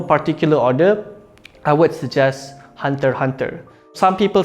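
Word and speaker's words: Hunter × Hunter: second in no particular order I would suggest hunter hunter some people say hunter x hunter just because this axe in the middle but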